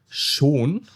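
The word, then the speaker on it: schon: For example, shaun means already in German, but shun means beautiful. Okay, sh and shun. These are two different words.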